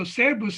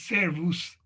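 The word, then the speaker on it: Szervusz: So Serbus is how you say it. I was told it's Servus, but in Hajdúnánas, I always heard it as Serbus.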